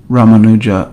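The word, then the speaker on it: Ramanuja: There's a great saint known as Rammanuja. Rammanuja. He was an Acharia. So he's usually his name is usually pronounced Rammanuja Archaria or Rammanujacharia.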